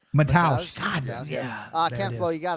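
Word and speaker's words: Mateusz: Man, how do you say his first name? Not Mentos. Hold on. Let me do it again. Mataus.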